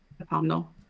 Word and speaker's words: autumnal: Autumnal There you go. Um, you're trying to put an extra syllable in there.